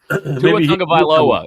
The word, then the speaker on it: Tua Tagovailoa: I still can't pronounce his name either. So Tua Tagovailoa.